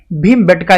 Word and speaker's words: भीमबेटका: गया है, यानी कि पहले ये भीम बैठका के नाम से जाना जाता था और समय के साथ साथ ये भीमबेटका इसको प्रोनाउंस किया जाने लगा, क्योंकि यहाँ पे मीनिंग